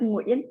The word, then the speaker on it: Nguyen: Did I pronounce that right? Is it Nguyen? That's how you say it, right? Close. Yeah. It's Nguyen.